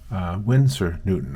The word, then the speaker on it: Winsor Newton: Winsor Newton.